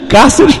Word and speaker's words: Cáceres: Pior que já existe acento. Cáceres realmente. Proparoxítona. Tem acento na. É uma palavra proparoxítona. Acento agudo na antepenúltima sílaba do vocábulo do substantivo próprio.